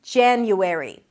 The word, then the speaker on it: January: You start with a J sound, J, then it's the A as in cat, ja, ja, an N sound and a Y. Jan-you, transition to an U sound, and then airy. An E sound, an R, and an E. Airy. January. January. Primary stress is on the first syllable.